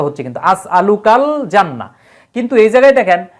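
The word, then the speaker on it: أسألك الجنة: এই যে লামের উপর একটা সুকুন চলে আসবে আসলুকাল জান্না এই যে লামের উচ্চারণটা হচ্ছে কিন্তু আসলুকাল জান্না কিন্তু এই জায়গায় দেখেন মিনান্নার আলিফ লামের কিন্তু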